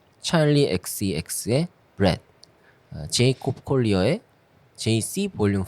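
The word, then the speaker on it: Djesse: 그래서 DJ S인 줄 알았어요. DJ S. DJ 에세. 약간 옛날에 에세 담배 있었거든. 그렇죠. DJ S야? 그랬는데 찾아보니까는 JC라고 읽는데요 이거를. 그러니까 제이콥 콜리어의 이니셜을 딴.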